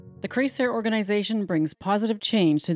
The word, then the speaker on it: CreSer: Our name, pronounced CreSer, is derived from three Spanish verbs: CreSer, to grow; creer, to create; and creer, to believe.